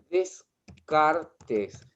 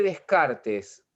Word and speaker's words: Descartes: Renato es René Descartes. Se escribe Descartes, pero se dice Descartes.